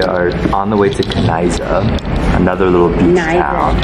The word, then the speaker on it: Knysna: We're leaving Groot, Brakrivier, and we are on the way to Knysna, another little beach town. Knysna, no K sound. And you pronounce the Y as well.